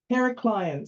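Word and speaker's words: Heraklion: one and it's pronounced heracleion so the largest island on creep is herac Clon uh and that's also where the airport is um it's not spelled as it sounds um it's actually spelled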